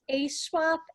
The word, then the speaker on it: AESWAP: my organization is ASWAP LLC. ASWAP is spelled AESWAP because it's Ann swapping up 16 channels of story content